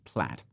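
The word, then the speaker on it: Plaid: you to a service called played at least that's how i pronounce it my american friends might say plat this connects your gemini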